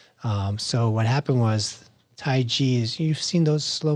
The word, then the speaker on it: Tai Chi: not Chi like energy it's pronounced with a J in Mandarin Tai G mhm g means it